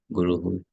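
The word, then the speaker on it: गुरुः: And here the vowel is U. So when you make the pronunciation, it will be Guruhu. But that ha is very soft. It's not ha.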